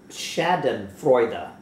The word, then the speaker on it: Schadenfreude: But one more time, how do you pronounce this word? Schadenfreude. Schadenfreude.